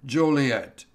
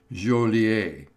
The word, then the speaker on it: Joliet: fort dodge lacrosse elgin joliet but he pronounced it julie and i forget was